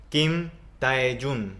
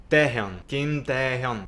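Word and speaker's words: 김태형: lo traducimos y romanizamos, hay personas que le dicen Kim Tae-jun porque es la forma que nosotros como hispanohablantes intentamos romanizar esa palabra. Kim Tae-jun, ese nombre. Pero déjenme decirle que está mal pronunciado y este es un ejemplo muy claro de romanización. En realidad no es Tae-jun, es Kim Taehyung.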